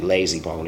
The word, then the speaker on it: Layzie Bone: I should be Layzie Bone. It rhymes with Crazy Bone because I speak slowly.